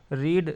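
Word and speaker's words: read: form रेड होता है रीड रेड रेड second form रेड है और रामचरित मानस ऑब्जेक्ट है तो रामचरित मानस रीड का उच्चारण चेंज हो जाता है लेकिन स्पेलिंग सेम ही रहता है फर्स्ट सेकंड थर्ड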